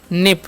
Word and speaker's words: nip: अब नेक्स्ट हमारा NIP, इनका उच्चारण न, आई का उच्चारण हर्षी, पी से पता हो गया निप।